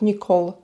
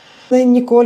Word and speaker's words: Нікол: І вони кажуть: "Нікол, не Ніколь". Ніколь, я думаю, теж можна сказати.